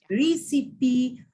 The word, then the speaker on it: recipe: Recipe for chocolate cake?